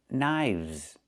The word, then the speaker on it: knives: 1 knife, 2 knives. Again, with the v sound plus the z sound, like in zebra.